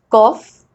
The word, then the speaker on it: cough: Rule number 2, GH is sometimes pronounced as F, that is F. Like here, cough, rough, tough, enough, laugh, draft.